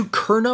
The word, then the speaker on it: Ducournau: Is it Ducournau or Ducerno? There's no squiggle under the C, and that's how you know it's an S sound in French. So I believe it's Ducournau.